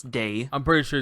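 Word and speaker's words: Dae: But yeah, Day so, is spelled D-A-E. I don't know if I'm saying it right, but I think it's Day.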